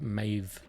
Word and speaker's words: Medb: Also, who would have thought you'd pronounce it Maeve? That's good to know. If you see a D then a B, you pronounce it as a V.